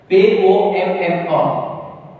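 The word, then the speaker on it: pomme: P-O-M-M-A. P-O-M-M-A. How will you pronounce? Pom.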